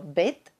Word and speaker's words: byt: For example, byt means apartment, but být means to be.